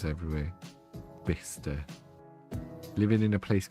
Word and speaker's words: Bicester: Is it going to be one of these weird English places where it's actually pronounced road or something? It's actually Bister.